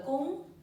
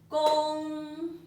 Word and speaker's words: 恭: The first sound, that is first sound. It's the first tone.